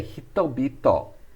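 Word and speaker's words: 人々: We say hitobito. Hitobito. That's pronouncing hito twice, but the second time it turns into a B sound.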